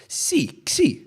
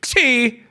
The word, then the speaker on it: Xi: Xi. You say Xi.